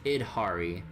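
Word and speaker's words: Yidhari: Oh, and itari. Yeah, just Idhari. Like id software, you know.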